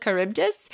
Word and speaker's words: Charybdis: the first CH as a ch sound, like a chet in Hebrew. I know that sound, but it sounded like that. And I don't think that we would do that justice or do it very well. So we're going to go with Charybdis.